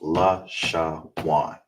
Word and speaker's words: Lashawan: And the na is together, so it's pronounced law, sha, wan.